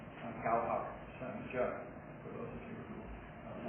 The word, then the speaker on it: 教学相长: I think the Cantonese pronunciation for that proverb is Gao Hak San Jia.